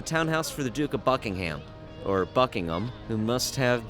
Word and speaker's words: Buckingham: Here we are at Buckingham Palace. Someone told me once that Americans put too much emphasis on the ham part of that word. So, you could pronounce it Buckingham.